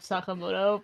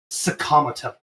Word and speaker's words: Sakamoto: So apparently that's a pretty common like native English pronunciation of of Sakamoto because Wait, this is not the first time this has happened.